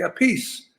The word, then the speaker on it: Appice: to say your name there's so many different pronunciations okay so what do most people call your size and most people say a piece okay so so then we went with a piece i'm playing in front